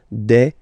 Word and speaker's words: des: at the end and as we said you don't pronounce it so you get de okay de so un singular